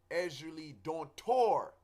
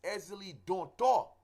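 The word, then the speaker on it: Ezili Dantò: example in the West a lot of people say Ezra Lee don't tour with an R there is no R it's easily don't talk you know um with an accent over the O you know so in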